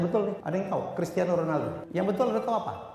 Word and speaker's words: Ronaldo: ada yang tahu Cristiano Ronaldo yang betul ada tahu apa Cristiano Ronaldo R dijadiin H karena dia adalah orang Portugis Jose mourho salah kalau